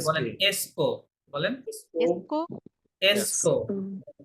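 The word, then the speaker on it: est-ce que: किसके আচ্ছা, বলেন किसके এসকো, বলেন এসকো, এসকো। এটাকে ভেঙে বলা যাবে না, এটা একসঙ্গে বলতে হয়। আপনি ভেঙে বললে হবে এটা এ হচ্ছে তো কো, এরকম না, হ্যাঁ?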